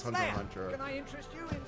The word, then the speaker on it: Hunter x Hunter: Also the X is silent. Sorry, Hunter Hunter. Sorry, I'm used to saying Hunter x Hunter, so even though I know it is Hunter Hunter.